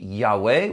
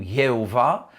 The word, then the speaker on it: Yahweh: Parfois, on le prononce aussi Yahweh ou Yehovah, est toujours traduit éternel en français.